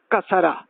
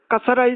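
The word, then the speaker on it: كسرة: Now we come to the second, kasara. Kasara is like in, I, in. The word in, so what is I? How it pronounced, this is kasara. Like the under sound.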